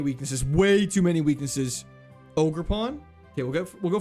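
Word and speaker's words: Ogerpon: Ogre pawn.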